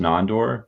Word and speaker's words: Nandor: Well, I kind of explained a little bit to Clint, but it's actually pronounced Nandor, but it's Hungarian. My mom's from Hungary, so okay. It's just a Hungarian name.